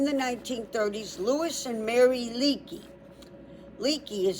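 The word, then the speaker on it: Leakey: So, in the 1930s, Lewis and Mary Leaky Leaky is spelled L E A Ke. leak like you have a leak and then just add a ey.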